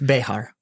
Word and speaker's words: Bexar: shouldn't be Bear County. That's not Bear. It's Behar. Yeah. It's actually how it's pronounced.